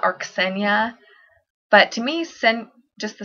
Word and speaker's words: Xenia: And number 10, I have Xenia, Xenia, and it is from the Greek word that means stranger.